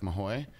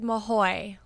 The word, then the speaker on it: Mahoe: It is Mahoe, like with a Y on the end, like Chips Ahoy.